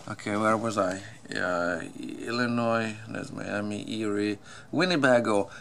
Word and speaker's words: Illinois: let me see Illinois the state of Illinois it's a French with a silent s all right the French